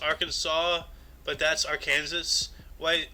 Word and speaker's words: Arkansas: not i don't know it's not your case it's not my cancer it's not our cancers it's arkansas arkans jumping out to